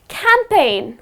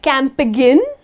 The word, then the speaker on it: campaign: Another word, which is Campaign. We are campaigning for this new product, so its campaigning. It’s a campaign. You do not say Camp again. That’s the incorrect pronunciation; it’s just campaign, where the letter G goes silent.